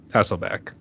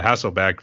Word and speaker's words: Hasselbrack: I think I pronounced his name wrong. I'm so used to Hasselbrack, the quarterback who used to yeah. The Seahawks, so yeah. Yep. Yeah, it's Brack. B-R-A-C-K. Yep.